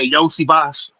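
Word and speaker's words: Iosivas: Oh, Andrea Yosi Boss. Yosi Boss. Okay. All right. Andrea Yoshi Boss.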